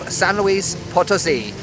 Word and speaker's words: San Luis Potosí: de San Luis Potosi ou comme Je le dirais en anglais, San Luis Potosi, mais je suis au Mexique alors je fais un effort de prononciation espagnole.